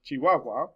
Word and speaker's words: chihuahua: also be separated so we have words like chihuahua which normally would have just one big mixture of the one big melange of syllables because we have h's in between each one of those a's and u's we have three